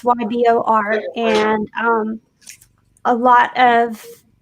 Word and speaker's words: Ybor: went down to and i'm gonna maybe say it wrong ebor city yeah it's ybor and um a lot